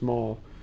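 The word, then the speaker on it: Mahle: box he works from mall I guess it's called pronounced mall and they make engine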